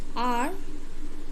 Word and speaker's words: hour: Because the word HOUR, are, no? So this word are starts with a consonant, but it has a vowel sound, no?